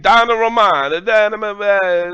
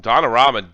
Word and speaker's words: Donnarumma: Donnarumma. The pizza pie. Donnarumma. Donnarumma. Say it again. Donnarumma. Donnarumma. Bayern working outside the Like box. Opening these back kicks. That's twice you fucked them up. Yeah. When Donnarumma dumps the ball and Neymar gets in front